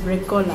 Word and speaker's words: Recohla: My name is Recohla. Recohla. Can you spell that for me?